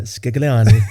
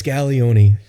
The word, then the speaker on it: Scaglione: Well, I can tell you it's definitely not Scaglion, whatever you said. It's Scaglione, unless I owe you money, and then it's Scaglion.